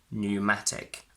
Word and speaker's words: pneumatic: pn, the p is silent. Pneumonia, pneumatic. N is a single voiced